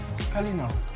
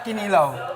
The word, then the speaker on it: kalinaw: How do you say peace in Visayan? Kalinaw. A kalinaw. Kalinaw. Not kinilaw.